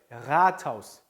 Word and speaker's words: Rathaus: R 발음 어떻게 해요? Rathaus, Rathaus, Rathaus. 이게 마치 흐 소리처럼 히읗처럼 돌린다고 해요. R, 목이 갈린 소리죠.